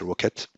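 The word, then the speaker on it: rkt: Mesos, or LXC or LKT, which we can pronounce Rocket.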